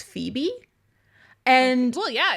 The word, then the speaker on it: Phoebe: I know that PH is a F sound. But for some reason in my head, I pronounced it Poebe.